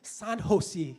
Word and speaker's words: San Jose: โ ฮ ซ ี เ จ no wrong pronunciation it is San Jose เ จ ม ั ้ ย San Jose